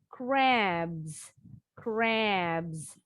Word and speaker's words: crabs: Huruf B, crab, crab. Ditambahin akhiran S, crabs, crabs.